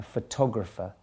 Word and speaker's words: photographer: is a photographer okay a photographer the stress there being in the middle of the word photographer vegetable vegetable not